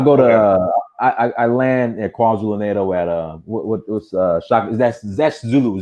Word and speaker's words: KwaZulu-Natal: Well, first of all, it's KwaZulu-Natal. KwaZulu-Natal. I'm sorry. My bad. Yeah, you're saying it wrong.